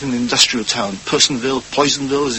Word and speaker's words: Poisonville: Red Harvest, which is set in an industrial town, Psonville, Poisonville, as it's pronounced described as as an ugly town in